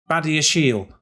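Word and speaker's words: Badiashile: the acquisition of benoit badashiel that's how i'm reliably informed it is pronounced so baddie's shield has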